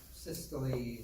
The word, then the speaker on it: systole: Systole is how to say it.